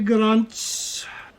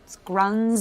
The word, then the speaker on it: Gruntz: I don't have all day Gruntz. It's -um- Grunz. The T is silent.